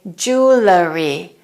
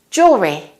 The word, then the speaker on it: jewelry: say the next word some Americans incorrectly say jewellery jewellery don't say jewellery it's jewelry Jewelry jewelry jewelry I love